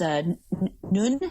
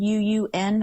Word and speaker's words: Nuun: I took those Nun tablets, Nuun. I'm not sure exactly how they say that. You said it right. And Noon.